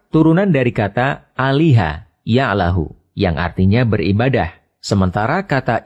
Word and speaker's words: Allah: dihilangkan untuk mempermudah membacanya lalu huruf lam yang pertama di idghamkan pada lam yang kedua sehingga menjadi satu lam yang di tasdid lalu lam yang kedua dibaca tebal sehingga dibaca Allah demikian pendapat ahli bahasa